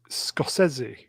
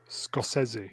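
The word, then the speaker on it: Scorsese: was the last great apparently he scosi is how you pronounce his name SC scosi probably yeah no it is it is scosi he's a good director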